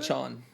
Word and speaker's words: Achane: Achane.